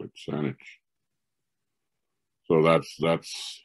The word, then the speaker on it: Saanich: of cnic and you know since they couldn't pronounce it they call it saanich so that's that's how this this sandwich here